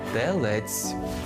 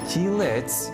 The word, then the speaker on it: Телець: у родовому відмінку овна далі йде Телець не Тілець адже ми бачимо зображення на тіла з і а теляти з е Телець наступними є близнюки раки